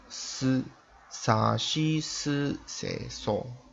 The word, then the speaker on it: す: Okay, so normally when we pronounce SU, it's not really Su but Si.